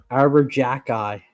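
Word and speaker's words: Arber Xhekaj: It does not pronounce the way it looks. I have no idea. Arbor jack eye.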